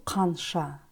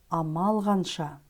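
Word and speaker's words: қанша: фраза алган Амал Анша Здесь тоже в слове ханша звук к произносится как г Потому что перед ним стоит сонорный согласный звук л не Амал канша а алган Анша фраза Анша переводится как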